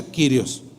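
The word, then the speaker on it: κύριος: es zoom y kirios curiosos según eso se pronuncia quirios dos palabras son y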